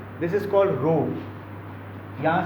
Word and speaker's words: rho: ये जो सिंबल है इसको ऐसे ड्रॉ करना है, दिस इज कॉल्ड रो। यहाँ से शुरू किया ऐसा, ठीक है। This is रो, what, रो, pronounce करना है रो, RHO, रो, रो।